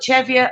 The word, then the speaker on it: Cheviot: it we're spinning cheap cheviot i call it cheviot a lot of people